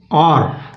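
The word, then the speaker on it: hour: जैसे हमने कहा आर, तो यहाँ पर एच साइलेंट है दोस्तों, तो एक घंटा,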